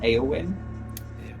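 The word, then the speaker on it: Éowyn: It's pronounced Eowyn, okay. and that's Tolkien.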